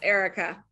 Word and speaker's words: Erica: It's so nice to meet you, Erica. And now, is that the proper way of pronouncing your name? Yes, Erica.